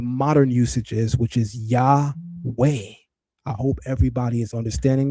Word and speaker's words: Yahweh: The best configuration of this would be to say the ta shasu Yahweh, which is exactly how the scholarly consensus interprets it.